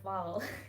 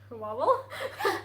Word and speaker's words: vowel: No, we have a V and then W.